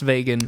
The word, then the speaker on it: Vegan: which is named vagan spelled like vegan but pronounced vagan back in the time